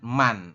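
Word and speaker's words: 만: Jadi Anda jangan terkecoh bahwasanya yang Anda potong tadi itu dibacanya adalah man.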